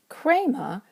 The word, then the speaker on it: χρῆμα: Krema wants to have a circumflex and stay over the eta.